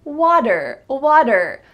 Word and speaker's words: water: And then we have the word water, water. What's the sound that you hear in the middle of this word? Water, water. Well, it's not a T sound, water. Instead, it's a D.